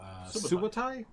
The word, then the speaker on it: Subotai: There's also Valyria, and there is also Subotai. Yes. That's how you pronounce it.